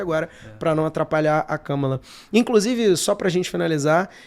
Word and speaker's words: Kamala: tem que fazer agora pra não atrapalhar a Kamala.